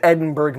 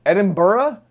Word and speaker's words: Edinburgh: to the University of Edinburgh medical school one of the greatest medical spur Oh Edinburgh Edinburgh what not Edinburgh you don't pronounce the G in the live demonstrations